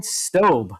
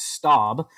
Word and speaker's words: Staub: Um Ryan Sto, I believe, is the correct uh pronunciation of his last name, even though it looks like Stab.